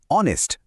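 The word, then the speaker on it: honest: প্রথমটা দেখো অনেস্ট। শব্দটা শুরু হচ্ছে এইচ দিয়ে। যেটা একটা কনসোনেন্ট। কিন্তু উচ্চারণটা কি?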